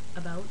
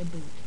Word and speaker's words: about: About. Pronounced how it looks. I'm sorry, just... We don't say a boot.